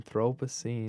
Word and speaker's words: Anthropocene: do you say the title the Anthropocene extinction Anthropocene so right now we're in the like if